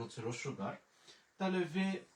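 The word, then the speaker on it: vous: তা আমাদের এখানে বরযাত্রী আছে হচ্ছে ও ইউ, ও ইউর উচ্চারণ হচ্ছে রস্যকার। তাহলে ভে ও ইউ মানে হচ্ছে ভু।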